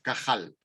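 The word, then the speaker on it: קהל: convocatoria ellos lo hebreo pronuncia una palabra que es cajal y cajal igual que ramón y cajal pues esa palabra cajal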